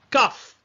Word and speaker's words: Qaf: prononciation la lettre Q donc en arabe eux ils disent CAF ok pour représenter la lettre entre guillemet la lettre latine Q ok CAF c'est le Q et en latin nous